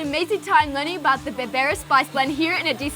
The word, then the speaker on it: berbere: This, the Berbere spice. Berbere. Berbere spice. Woo. Yeah. Berbere. Berbere. Oh, it's kind of like rolling the R, but I can't roll my R's.